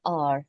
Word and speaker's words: hour: So, H is silent and it sounds like hour, so which begins with an O sound.